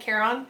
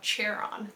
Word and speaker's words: Charon: I think that's how they pronounce it in the book. I've always said Charon, but there's a part where she says it and he corrects her and it's spelled out Charon.